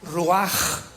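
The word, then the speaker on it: רוּחַ: Porque la palabra espíritu en el hebreo es roach con R de Raúl y ch se pronuncia roaj.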